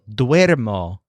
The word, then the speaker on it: duermo: Dormir also does this, so duermo is I sleep, and duermen is they sleep.